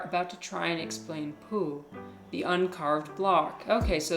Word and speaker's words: Pooh: Pooh, by the way, is pronounced sort of like poo, but without so much ooh, like the sound you make when blowing a bug off your arm on a hot summer day.